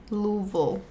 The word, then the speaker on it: Louisville: with that humidity so you know um it's pronounced Louisville thank you very much I did get corrected